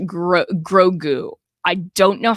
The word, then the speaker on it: Grogu: It's pronounced Grogu.